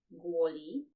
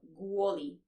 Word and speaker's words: kvôli: So it's a soft sound or a palatalized sound. It happens because the L is followed by I. So li, kvôli.